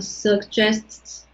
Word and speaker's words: suggests: But here's the thing try to pronounce sts, sts, like that. Oh, okay. So, suggests.